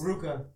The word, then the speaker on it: RVCA: What is it pronounced? Ruka. It's like a U. Yeah, it's weird. Oh, that's a U? Yeah, it's supposed to be.